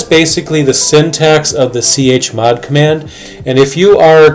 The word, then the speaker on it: chmod: And chmod, or some people pronounce it shmod, basically stands for change mode.